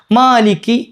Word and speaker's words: مَالِكِ: നീട്ടണ്ട അവിടെ രണ്ട് ഹർക്കത്ത് നീട്ടിയാൽ മതി ഒരു അലിഫ് അതായത് മാലിക്കി മാലിക്കി അത്രയേ ആവശ്യമുള്ളൂ. മാലിക്കി ചിലര് എന്താണ് സ്പീഡിൽ ഓതി വരുമ്പോൾ മാലിക്കി എന്നുള്ള നീട്ടി തന്നെ പോയിട്ട് മലിക്കി ആയി പോകലുണ്ട്.